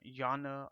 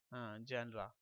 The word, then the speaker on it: genre: Most of the people pronounce it genre or genre. Basically it is genre.